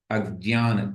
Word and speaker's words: अज्ञान: य्या सुप्रसिद्ध दम एक उच्चारण भेद यहां पर है हम सामान्य से इसकी प्रैक्टिस हम लोगों की है अज्ञान ज्ञान है ना ज्ञ पढ़ने की इसकी प्रैक्टिस है कल इसके विषय में थोड़ा सा मैंने आपको बताया था शुद्ध उच्चारण के रूप में ग्रहण करते हैं तो अज्ञान ज और य का मिश्रण बना कर के ज्ञ बनता है बाकी प्रैक्टिस जैसी चल